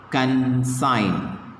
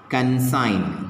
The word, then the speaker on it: consign: how to pronounce this consign what is this consign g is silent hello w is